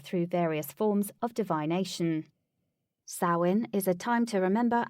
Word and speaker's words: Samhain: Samhain, pronounced Sow-in, translates to summer's end.